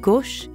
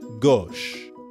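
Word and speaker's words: gauche: on the left a notice that the u sound in gush is the same as in or in the english word story o it's kind of like the english word gosh but with the o sound from story gosh let's listen to another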